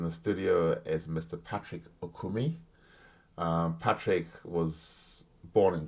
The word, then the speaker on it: Okumi: I mean it's uh I think technically it's okumi but I've become very aniz in my my